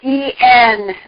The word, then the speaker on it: en route: So En route Books is the sponsor, and if you just go capital ENROUTE, it's a French word, it's pronounced en route Books, or get it off the radio, it's on the radio list of things too, links.